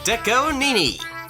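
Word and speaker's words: DECO*27: Okay, by Deco Nini, or Deco27 for some people who don't know how to pronounce his name.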